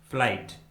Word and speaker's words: flight: एच आता है तो उस वर्ड में जी एच कम्प्लीटली साइलेंट होता है, यानी जी एच का किसी प्रकार से कोई भी उच्चारण नहीं किया जाता है।